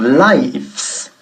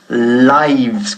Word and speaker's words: lives: Pero ¿cómo sería la misma palabra en el plural? No decimos lives, sino lives, con V.